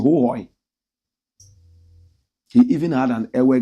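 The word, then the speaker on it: Hohoe: The correct pronunciation, Hohoi.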